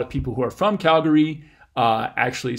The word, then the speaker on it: Calgary: but I say at Calgary with three syllables and the first one is stressed the second syllable has a schwa in it I know a lot of people who are from Calgary actually say it Calgary